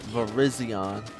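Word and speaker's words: Virizion: Yep, that's how you say it, too. Verizion.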